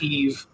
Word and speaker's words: Yves: I think it's Eve.